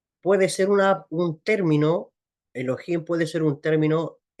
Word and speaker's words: Elohim: Ya la pronunciación correcta es Elohim.